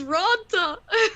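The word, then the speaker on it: Raanta: It's Ronta. I've always said Antti-Ranta.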